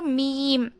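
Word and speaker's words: ميم: Next வந்து மீம். மீம், மீமுடைய மஹ்ரஜ். இது வந்து 2 லிப்பையுமே வந்து நம்ம ஃபோல்ட் பண்ணி ஓதணும். மேலே ஒரு பிக்சர் கொடுத்துருக்கேன் பாருங்கள். சேம் அதே மாதிரி நம்ம ஃபோல்ட் பண்ணி ப்ரொனவுன்ஸ் பண்ணணும் மீமை.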